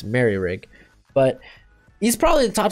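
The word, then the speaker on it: Moehrig: someone corrected me uh this whole time i i thought it was mo rig i've heard it pronounced mill rig it's apparently it's merry rig but he's probably the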